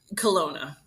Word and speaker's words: Kelowna: want to make sure I don't ruin it Kelowna Kelowna okay that's what I want to guess